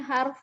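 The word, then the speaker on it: حرف: Harusnya harf, tapi saya kadang-kadang huruf saya bacanya. Iya. Karena kan itu kalau dilihat itu kan haknya fathah, roknya Iya. sukun ya. Kalau Iya, jadi roknya kayak- bukan roknya dhammah ya, jadi nggak bisa dibaca huruf dia.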